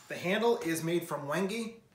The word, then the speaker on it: wenge: handle is made from wenge i pronounce it wenge you pronounce it however you like it's very dark i